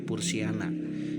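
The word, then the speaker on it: Purshiana: Kemudian contoh Pursihiana diucapkan sebagai Pursiana.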